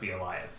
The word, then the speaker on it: Bielajew: like that but the the J sounds like Y and if the W